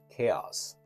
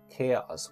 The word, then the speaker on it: chaos: You have to say determine, determine, where the stress is on the second syllable, and we say determine. The next word is chaos. Chaos, where the situation is total confusion, we say chaos, chaos, chaos.